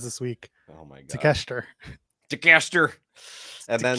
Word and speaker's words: Takeshita: I heard it I mispronounced it once, heard it a couple times, and I was like, okay, Takeshita.